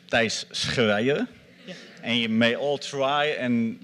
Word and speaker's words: Thijs Schreijer: to pronounce my name my name is pronounces dice Korea he may all try